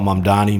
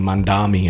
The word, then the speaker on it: Mamdani: It's the same as when they call Mamdani Mandami and stuff like that. If you just mispronounce the guy's name a little bit, it just kind of hurts the brand clarity.